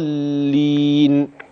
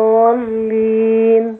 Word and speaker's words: الضالين: المكذبين المكذبين الضالين جميل كلمه الضالين محتاجه تظبيط شويه الضاد واللام المشدده تبان هكذا الضالين الضالين ايوه فنزل من حميم